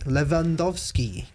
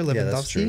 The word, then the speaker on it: Lewandowski: So a W in Polish is typically pronounced with a V. Yeah. How do you know this? Because that's how they say it. Lewandowski. Remember the soccer player Lewandowski?